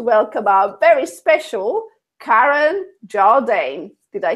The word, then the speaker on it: Jarldane: So, without further ado, I'd like to welcome our very special KAREN Jardane.